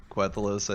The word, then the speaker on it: Quthalos: Really, however you want, but Quthalos, I think, is how I say it. Quthalos. Yeah, it's not how it's spelled, but yeah.